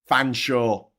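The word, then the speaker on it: Featherstonhaugh: Fansaw. It's pronounced fansaw, motherfuckers.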